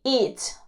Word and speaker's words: eats: She eats lunch. A ver, en este caso, eat. El verbo eat, cuando lo ponemos en la tercera persona, simplemente se pronuncia como una S.